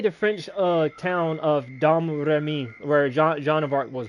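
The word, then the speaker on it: Domrémy: How How do you say the French uh town of Dam Rei where Jean Jean John was born. Yeah. Dami.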